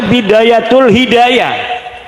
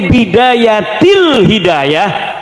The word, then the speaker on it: Bidayatil Hidayah: Karena deke maca Bidayatul Hidayah. Harus sebah dibacanya Bidayatil Hidayah karena anak huruf jer B.